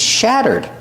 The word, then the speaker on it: shatter: we pronounce shatter shatter the a is a short sound like black cat shad shattered the Double T is pronounced like a fast D shatter shattered and we finish with a D sound this adjective has a